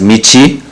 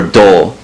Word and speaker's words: 道: So this character in Japanese is read as michi or do, and it means road, path, or way, and it has a number of different figurative meanings.